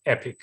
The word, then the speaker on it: Aepic: way you're spelling it the a which is like in aesthetics is uh and it if you pronounce it it sounds like epic so that's why we